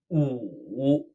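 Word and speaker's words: 午: Now, if we add a 撇 to the top of our 干, we get noon, pronounced 五. It's kind of like somebody said goo, but they took the g off.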